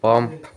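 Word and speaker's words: balm: যেমন নি নলেজ এবং সাইলেন্ট বি এমবি পর পর থাকলে এবং বি এর পরে কোন বায়াল না থাকলে বি অনুচিত থাকে যেমন বাম সাইলেন্ট এল বয়েসের পরে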